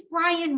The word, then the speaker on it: Brian: So who is Brian Moore? Well, first of all, I pronounce his name wrong. It's Brian.